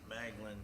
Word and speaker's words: Maglin: action item number 13 maglin grand junction i'm sure i guess i'm pronouncing that right yes maglin is correct grand junction plaza site